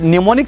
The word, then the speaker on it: mnemonic: दोस्तों, इस न्यूमोनिक science के अंदर एम साइलेंट है।